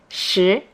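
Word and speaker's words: 十: yeah at 8pm now is geo deter 10 is shi the second tone okay so 8 9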